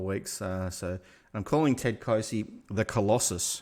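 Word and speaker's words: Clohesy: So I'm calling Ted Closey the Colossus because someone on VFL commentary was pronouncing his name Ted Colosi.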